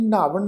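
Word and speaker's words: ਨ੍ਹਾਵਣ: इस शब्द का पाठ उच्चारण करांगे नावन। नन्ने अखर के पैर च अद्धा हाहा लगा के पाठ उच्चारण करांगे जी नावन।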